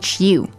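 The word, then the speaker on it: 书: answer first tone sh sh U sh Shu first tone sh all right so that's high and FL that's how we say book in Chinese right sh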